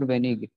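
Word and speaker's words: wenig: Sir, how do we exactly pronounce the word for little, like venish or venig? Venig, venig, ja, go go, venig.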